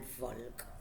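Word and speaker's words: Volk: que se llama el folk se escribe con b corta se pronuncia medio medio efe de folk alemán fue una patada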